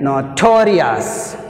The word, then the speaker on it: notorious: oh yes see here notorious notorious notorious toe toe to res1 that's why it takes the second syllable notorious law tori second